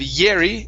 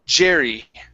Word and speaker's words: Jerry: Instead of Yeri, it's Jerry. Jerry.